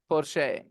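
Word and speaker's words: Porsche: that oh माय गॉड पोशे we pronounce it पोशे या वेन यू आर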